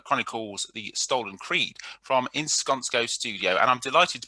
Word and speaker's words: Iskonsko: I'm doing fine, and well done on pronouncing Iskonsko Studios.